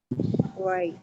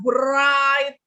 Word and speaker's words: write: Right. Ini bacanya bukan bright. W-nya Well. tidak dibaca. W-nya Right. jangan dibaca. Right. Right. Writing. Right. Ya, jadi W-nya nggak usah dibaca.